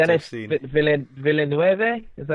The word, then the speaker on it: Villeneuve: I think I would like to have seen Villeneuve. Is that how you say his name? Villeneuve.